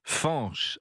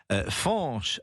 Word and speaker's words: Fañch: familiales pour avoir prénommé leur fils l'été dernier fche alors ça s'écrit F a n audessus du N ce